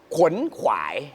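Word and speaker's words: ขวนขวาย: นะ ฮะ คำ ว่า ขวน ขวาย ถ้า จะ อ่าน ให้ ถูก ต้อง จริง ๆ แบบ ตาม หลัก เลย นะ ฮะ ต้อง ต้อง อ่าน ว่า ครับ ขวน ขวาย นะ ครับ ผม อ๋อ ขวน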